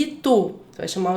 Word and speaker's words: Itu: Jacaré e itu. Você vai chamar o jacaré. Jacaré. Você vai chamar itu. Itu. Então são essas sílabas, as últimas sílabas, né? A última sílaba mais forte nessas duas palavras.